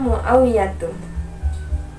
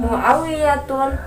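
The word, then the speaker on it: معاوية: Jadi, jangan sampai salah pengertikan atau salah pengucapan. Hamzatun, Muawiyatun, Tolhatun. Salah besar karena sudah ketentuannya. Sudah tata bahasanya bahwasanya nama laki-laki yang berakhiran tamarbuto, dia termasuk isim ghairu munsharif yang tidak boleh ditanwin.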